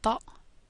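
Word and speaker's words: ط: look at now is a heavier version of T. is called ta, and it's pronounced in the front of the mouth. Ta. This T sound hasn't really got an equivalent in English or in Swedish, but you have to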